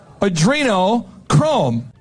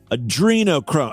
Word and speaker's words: adrenochrome: there to begin with adreno chrome he even has to mispronounce the word to get this to fit right adrino Chrome it's a Arduino Arduino Chrome real in reality but uh so adrenochrome